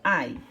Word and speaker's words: I: mãe não é então lembra que esse exame a gente pronuncia ai então ele é a